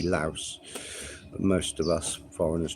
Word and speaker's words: Laos: Some people just call it Lao, but that has got an S, so it should be Laos.